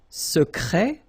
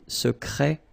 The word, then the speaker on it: secret: Okay, so I tend to insist a little bit on it just to make you hear the difference between the masculine. Secret, secrète. Okay, you're pronouncing the T.